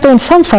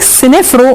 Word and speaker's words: سنفر: صنفره انت مش بتجيبي سنفر الحيطه كويس يعني جملها وهذبها يبقى الملك سنفرو ماسموش سنفرو اسمه سنفر سنفر نفرتيتي فر ت تي